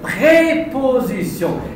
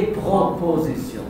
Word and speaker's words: prépositions: Vous avez fait une faute de prononciation. Les prépositions et pas les propositions.